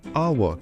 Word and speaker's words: hour: We say an hour. Even though hour starts with the consonant letter, it has a vowel sound. The letter H is silent in this word, so it sounds like R.